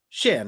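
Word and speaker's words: Xian: Like spelled X I A N. That's the like the Vietnamese spelling. Storm is written when she says it sh Han. Sh. She pronounces Shan.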